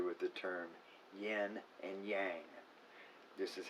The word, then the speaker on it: yang: derived from that so when you see y-i-n yen or in y-a-n-g yang not yang there's a lot of